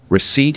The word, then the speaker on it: receipt: here s is silent receipt here p is silent so keep your detective